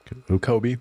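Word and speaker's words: Koby: Kobe. Kobe. Kobe. I It sounds like they say Kooby in the show, too.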